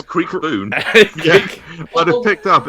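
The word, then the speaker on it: Kriekboon: Right, be careful because bone is spelt boon. B-O-O-N. Creek, K-R-I-E-K-B-O-O-N. It says Creek Boon.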